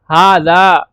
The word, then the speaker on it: هذا: note दे रखा है हा इ प्रोनाउंस हाज बट इट is written without the first अलिफ यानी के हाज जो है पढ़ा तो ऐसा जाता है यानी हा को भी खींचें और द को भी